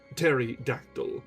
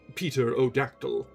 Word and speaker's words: pterodactyl: The latter was a native of Ireland, its name pronounced pterodactyl, or Peter O'Dactyl, as the man pronouncing it may chance to have heard it spoken or seen it printed.